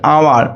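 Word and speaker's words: hour: যেমন এখানে হাওয়ার নয়, এটা হচ্ছে আওয়ার, তো আ হচ্ছে কি, আ সাউন্ডটা কি, এটা হচ্ছে ভাওয়েলের সাউন্ড, তার জন্য অ্যান হয়েছে।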